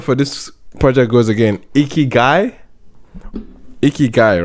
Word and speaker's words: Ikigai: Remind me of how the pronunciation for this project goes again. Ikigai, right?